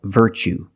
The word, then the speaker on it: virtue: word what's the pronunciation you see Tue as the second syllable so the t is pronounced CH like chicken so what's the pronunciation that's right virtue what is a virtue a virtue is a